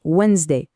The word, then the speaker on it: Wednesday: Ensuite, attention à celui-ci, c'est un peu un piège, Wednesday, on ne prononce pas le D.